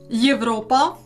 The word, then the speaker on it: Європа: Є is pronounced as Є, Є at the beginning of words Європа, Europe, and after vowels маєток, an estate, apostrophe